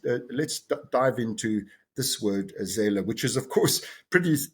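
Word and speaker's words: Seele: certainly the one you've just mentioned, which is pronounced za, capital s e l e, uh, which is this this German word uh, for the mind.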